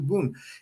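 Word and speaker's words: 文: but you wouldn't know it because the way that it's displayed, it's got the Chinese character for bun, which means bun is how you pronounce it in Japanese, but it means sentence or text.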